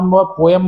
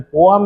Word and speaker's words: poem: सामान्य भाषा में हम पोएम बोल देते हैं, लेकिन इसका ओरिजिनल प्रोनाउंसिएशन पोएम है।